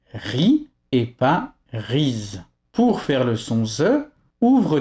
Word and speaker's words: riz: À la fin d'un mot, dans la très grande majorité des cas, le Z est muet. Donc on dira riz pour faire le son,